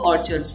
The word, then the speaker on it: orchard: Phalo ka jo बाग होता है उसको ऑर्चर्ड्स बोला जाता है और इसको ऑर्चर्ड प्रोनाउंस करते हैं आर साइलेंट हो जाता है इसमें ऑर्चर्ड्स.